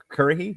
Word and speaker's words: Currahee: Currahee? Is that how you pronounce that? Currahee, yes.